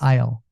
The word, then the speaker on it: Isle: I five I five no s just Isle yeah yeah the S is silent good see see so